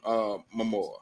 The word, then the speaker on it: Momoa: This probably may affect it, but the good news is this: women love Jason Momoa. That's it. Did I pronounce it correctly?